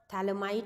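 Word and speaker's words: Phthalimide: हैं that is Gabriel थैलमाई synthesis ठीक है थैलमाई के अंदर पीएच आपका साइलेंट होता है इट्स अ थैल इमाइड सिंथेसिस रिएक्शन ठीक है नाम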